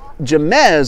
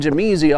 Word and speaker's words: Jamez: So that is Jamez, I'm told, is a correct pronunciation. I've been calling him Jameezy all afternoon.